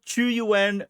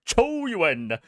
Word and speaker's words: Qiuyuan: I'm literally my waves right now because the new Chuen, sorry, I got to pronounce it correct. Chu Yuen resonator combat showcase just dropped.